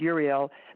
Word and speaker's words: Uriel: of the highest ray, Uriel, some pronounce it with a Y, depending on where you're from in the world, Uriel, but it's limitless light.